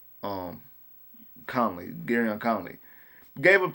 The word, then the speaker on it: Conley: Colvin, not I said his name wrong. I said Colvin. Um, Conley, Garyon Conley, gave up 2 touchdowns, but I think those were more so.